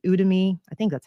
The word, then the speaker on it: Udemy: but there are these other online sites like udemy I think that's how you pronounce it it's like u d e m